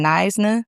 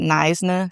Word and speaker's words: Knysna: It is in Nisna, South Africa. That is how you pronounce that. Nisna, South Africa.